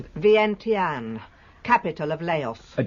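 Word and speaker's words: Vientiane: Her first commercial experience came in, how do you pronounce it? Vienten, capital of Laos, a distilling company.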